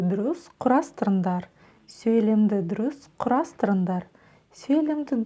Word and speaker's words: дұрыс: Разбираем, как пишется буква «у» с хвостиком. Все очень просто. Сначала произносим букву «о» и возьмем эту букву «о» за 100%. А затем ее краткую версию, 10%. То есть мы только начали произносить букву «о» и тут же закончили.